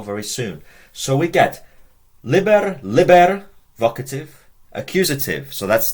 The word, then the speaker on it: liber: for well can you work it out it's pronounced Liber Liber I think Library it's a book and it's